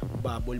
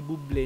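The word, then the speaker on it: Bublé: coach niya na si Michael Buble pala no Buble ang pangalan so hindi pala babble mali ako sa pagbigay ko ng pagpronounce ko kanina doun sa ano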